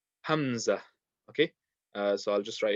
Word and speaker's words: Hamza: So the Hamza basically makes like the sound of like a A or an I in English. So it'll make like a sound. So the letter itself, we read it as Hamza, but the sound will